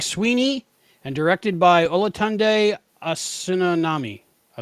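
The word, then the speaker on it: Osunsanmi: Screenplay by Craig Sweeney and directed by Olatunde Asunanami. I like him. We can never say his name right. No, I have to learn it because he's prolific in Star Trek lately, and Olatande Asunsanmi.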